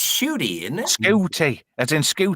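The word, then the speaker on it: Ncuti: Is it Scooty Gatwa? Is that how you pronounce it? Shooty Gatwa.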